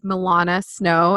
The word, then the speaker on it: Millana Sno: and so charming and beautiful her name is milana snow i pronounced that correctly right yes i'm so excited